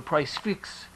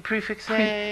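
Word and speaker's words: prix fixe: We go for a price fix. Is that how you pronounce it? Price fix? Prefix Prefix. Prefix.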